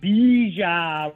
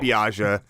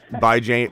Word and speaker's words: Bijan: You got to say it right. It's not Biaja. I know how to say Bijan. It's not Bijan. He said Bijan the other day. Bijan Robinson. I said Bijan.